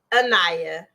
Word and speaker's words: Anayah: So before we go to this break, Anayah, I said it right?